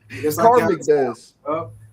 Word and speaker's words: Karmic Dez: Karmic Dez. Just like bro, you take karma and take my name, you got Karmic Dez.